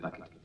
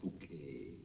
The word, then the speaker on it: Bucket: The village pronounce it Bucket. The family call it Bouquet.